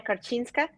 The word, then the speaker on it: Korczynska: um you to today's podcast guest so Emilia karchinska uh did I did I pronounce it well that's right well I just